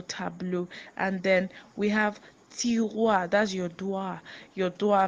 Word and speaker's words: tiroir: And then we have tiroir, that's your drawer. Your drawer, maybe where you do your assignments, tiroir, and it's spelled Tiroir.